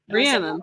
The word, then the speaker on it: Rhiannon: But I also wanted to shout out, how do you say like Rhiannon, like the Fleetwood Mac song? Rhiannon.